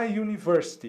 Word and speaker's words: university: vogal mas vejam só a pronúncia aqui da letra u é exatamente como nós chamamos a letra nesse caso o que